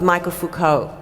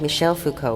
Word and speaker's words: Michel Foucault: Now, we then get, and this if you can see, is a photo of Michael Foucault. Is that the correct pronunciation of his surname? It's Michel, I think. Michel Foucault would be correct.